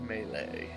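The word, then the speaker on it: Mêlée: The island of Malay.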